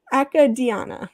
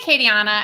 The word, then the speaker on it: Acadiana: and the chat book acadia i could wait akka diana which i should have practiced in advance and probably just mispronounced she lives in collingswood new jersey and